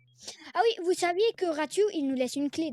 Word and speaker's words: Ratu: Ratu en fait en fait tout le monde le prononce mal à les personnes qui disent rate rat rati bref en fait ça se prononce ratu.